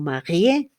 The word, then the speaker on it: marié: Como el señor es marié, fíjense, la E con tilde, por eso digo marié, pronuncio la E.